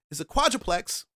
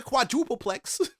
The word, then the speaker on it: quadruplex: And when I explain it to an agent and I tell her that it's a quadruplex, not a quadrupleplex, quadrupleplex.